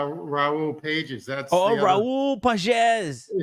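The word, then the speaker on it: Pagès: that's the the the dot right that's the pages no no that's uh Raul Pages that's oh Raul pasz it's not Pages it's pronounced what I call them that's what it's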